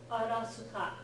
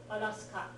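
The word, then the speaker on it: アラスカ: So like Arizona, Arasuka. Remember that there's no SK sound without spelling it. So it's going to be like the soup. Ka, ska, right? Arasuka, right?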